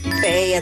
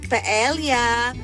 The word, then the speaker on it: paella: Paella trivia number 2. Alam niyo ba na ang tamang pagbigkas sa paboritong dish na ito ay walang tunog na L? It's not paella, but it's paella.